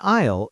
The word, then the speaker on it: aisle: An aisle is a row or a path in the store. A i l e. The s is silent.